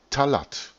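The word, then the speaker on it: Thalatth: Dieser Name lautet Talat, schreibt man T-H-A-L-A-T-T-H, Talat.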